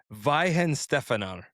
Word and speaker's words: Weihenstephaner: So this is the I actually got the pronunciation. I actually looked it up. It's called Weihenstephaner.